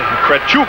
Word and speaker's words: Kretchuk: game one of the defenseman kretchuk is how you pronounce the russian's name he's a tall kid